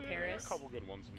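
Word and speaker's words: PVRIS: that well known but it's spelled PV r i s but they're called Paris a couple good ones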